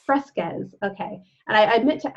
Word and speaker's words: Fresquez: And today I am like fired up about this guest, Fresquez. Am I saying it correctly? Yes. Fresquez.